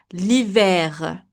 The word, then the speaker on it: l'hiver: Winter, H is silent, and here we are going to pronounce the R even if it's ER, it's an exception. L'hiver, l'hiver.